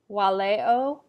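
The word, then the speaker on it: valeo: Waleo, walere, walui. So in all cases, this V changes to the sound of a W.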